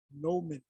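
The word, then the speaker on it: Gnomon: This is Bengal's Nomen. The G is silent.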